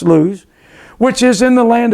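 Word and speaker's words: Luz: Jacob came to lose l u z it's pronounced lose which is in the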